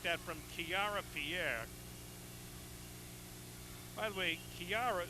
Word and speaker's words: Kiara: almost impossible to defensive shot like that from kiara pierre by the way kiara spells her first name capital k-i-a-r-a pronouncing kiara it's spelled the same way for kyra